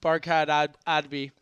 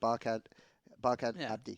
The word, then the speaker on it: Barkhad Abdi: Oh, yeah, and of course, the actor that he was referring to, Barkhad Adbi, in That's Captain not how you Phillips. pronounce his name. Barkhad Abdi.